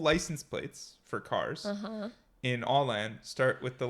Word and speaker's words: Åland: Oh no, come on, that's that American sounded like pronunciation. Alan. I don't want the English pronunciation. Here we go. Åland.